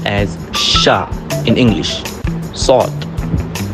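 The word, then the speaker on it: صاد: It makes kind of an S sound but it doesn't really have an exact match in English. To pronounce sawt correctly, the tip of the tongue must press against the palate towards the front teeth. It is a heavy and full letter that uses the entire mouth to pronounce.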